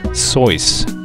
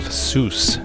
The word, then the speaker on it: Seuss: Did you know the whole world mispronounces his name? According to Geisel himself, it was his mother's maiden name and his middle name, pronounced Soyce, rhyming with voice. He embraced the American pronunciation of Seuss, as it closely ties him to Mother Goose.